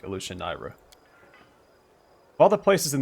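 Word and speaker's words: Alushinyrra: It's actually pronounced Elushanira, but I like Elushanira.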